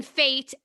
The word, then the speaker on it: Fecht: name is pronounced faith but you how you spell it yeah it's it's um uh my woman name's and then fate f-e-c-h-t but yep i'm on instagram at dreamfates